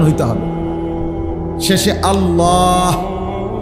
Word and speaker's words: আল্লাহ: শেষে আল্লাহ। শেষে একটা গোল হা আছে ছোট হা।